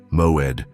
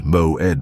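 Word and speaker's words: מועד: The Hebrew word that defines exactly what is happening with you is moed. Pronounce it with me, moed, moed.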